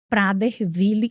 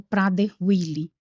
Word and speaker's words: Prader-Willi: Além do autismo, no nível três de suporte, né, ele tem uma síndrome rara, conhecida como Prader-Willi ou Prader-Willi. Alguns especialistas fazem essa pronúncia de forma diferenciada.